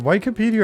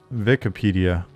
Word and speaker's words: Wikipedia: on is it Wikipedia or Wikipedia German pronunciation the I is before the E so it would sound like an e um I can't remember